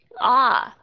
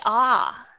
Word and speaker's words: are: are I have a nó rõ ràng là âm o are we are I have a car